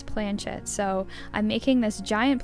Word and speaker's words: planchette: to say this word i would have said pull and but apparently it's planchet so i'm making this